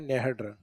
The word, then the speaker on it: नेहड: हालांकि जालौर वाले इसको नेहड कम लिखते हैं या कम पढ़ते हैं। डायरेक्ट है को साइलेंट करते हुए डायरेक्ट क्या बोल देते हैं? नेहड बोलते हैं। बाकी सही शब्द है नेहड।